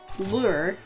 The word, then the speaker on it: lure: So anyway, if I was talking to someone and talking about a fishing lure, I would say lure, like L-E-R, like, oh, what kind of fishing lure is that?